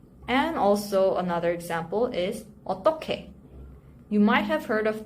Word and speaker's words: 어떻게: The spelling looks a bit unfamiliar with 히읗 in the second syllable, but this you pronounce it like this. 어떻게. 어떻게.